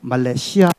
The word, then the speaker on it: 말레이시아: 여기서 상식 하나. 우리가 살고 있는 이 말레이시아라고 하는 나라 국가명 우리가 제대로 불러주어야 합니다. 말레이시아 아니고 말레이시아 아니고 말레이시아입니다. 말레이시아.